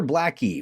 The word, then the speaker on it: blacki: And is it black eye or blackie? How do you say it? Blackie, yeah.